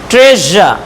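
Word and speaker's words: treasure: জ শেষে যেহেতু আছে SURE, তার উচ্চারণটা হবে প্লিজা, প্লিজা। ট্রেজা, ট্রেজা, SURE, ট্রেজা।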